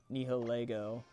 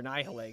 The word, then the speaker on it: Nihilego: Unless he switches into his Nihilego, or Nihilego, excuse me. I'm pronouncing it wrong and I made a meme.